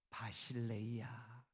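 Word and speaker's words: βασιλεία: 신약 성경이 기록된 헬라어로는 하나님의 나라, 왕국 이걸 뭐라고 발음을 하냐 하면 바실레이아.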